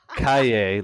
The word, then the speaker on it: Cailler: my all-time favorite so my name is pronounced like the you know the Apostle and then um and then Cay like yepy Cay so I was in